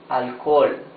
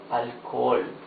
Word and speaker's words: alcohol: In the middle of a word, alcohol. Alcohol. You see, in both cases, the letter H is completely mute.